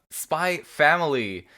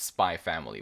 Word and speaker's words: Spy × Family: under the impression that this series is pronounced spy family with no x pronounced in the middle um if anyone knows better let us know but i think this